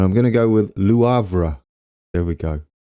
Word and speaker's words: Le Havre: And I'm going to go with Le Havre. There we go. Le Havre. I thought it might be Le Havre, but the pronunciation site seemed to agree on Lou rather than Le.